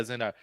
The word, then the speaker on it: Zendaya: How you pronounce her name? Zendaya? Yeah, Zendaya.